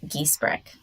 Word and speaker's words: Giesbrecht: your full name for me so I don't pronounce it incorrectly? Yes. My full name is Giesbrecht.